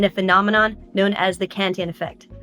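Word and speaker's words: Cantillon: phenomenon known as the Canton effect a French word that is sometimes pronounced in English as cantalin so let's start out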